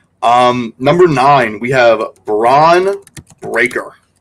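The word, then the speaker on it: Bron Breakker: number nine we have braon breaker another Bron but spelled differently this time oh spelled like LeBron yes Bron braon breaker see that sounds like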